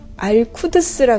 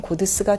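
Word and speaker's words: قدس: 이 고드스라는 것이 일종의 특수부대 성격인데 이게 알쿠드스라 그래서 그러니까 아랍 쪽에서 예루살렘을 가리키는 말이에요. 근데 그건 이제 이란식 발음으로 하면 고드스가 되는데 이 고드스가 하는 일은 뭐냐?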